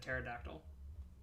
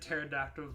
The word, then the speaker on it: pterodactyl: hanging no you said pterodactyls because the P is silent there's no there's no